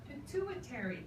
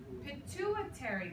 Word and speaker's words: pituitary: this one called the pituitary gland pituitary gland repeat pituitary gland it sounds very strange it almost sounds like church you know it's a very difficult word to pronounce it the pituitary gland